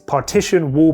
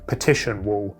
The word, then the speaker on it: partition: I think in the last video I kept saying petition wall. It's not a petition, it's a partition.